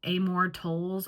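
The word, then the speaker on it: Amor Towles: gentleman and M Cow by Amore tols I think is how you say his name he has a lot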